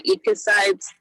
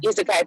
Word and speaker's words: Isekai: They've been reading a lot of the correct pronunciation because I don't have the word in front of me, but the Ikasides. What is it? Yeah. Isekai, thank you. Yeah. They've been reading a lot of the Isekai fiction in general, so they were super excited